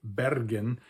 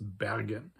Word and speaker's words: Bergen: And unlike in most of Norway, where people pronounce this letter as a rolled, trilled R, very much like in Scotland or in Sweden as well, as a R, and where people would pronounce the city Bergen, in this part of Norway, it's pronounced Bergen.